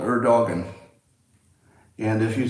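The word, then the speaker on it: Erdoğan: If you spell your name E-R-D-O-G-A-N, you should be called Erdogan. And if you say people know, the pronunciation is Erdogan.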